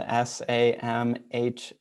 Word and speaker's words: Samhain: so halloween used to be called samhain and it's spelled s-a-m-h-a-i-n and it's pronounced samhain okay and that is